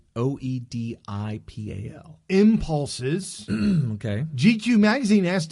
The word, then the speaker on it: Oedipal: I don't know how to pronounce that. It's Oedipal.